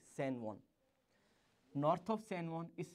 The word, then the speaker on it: San Juan: We write it like J-U-A-N and pronounce it like San Juan.